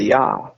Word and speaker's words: ja: I didn't know that I didn't know that ja was a ya.